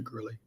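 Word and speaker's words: Girley: your time um my name is is Gurley um g i r l e y if you want to spell that out if you want to look me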